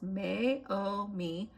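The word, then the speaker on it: Meiomi: It is the Mayaomi Mayaomi pronounced Mayomi Pina Noir.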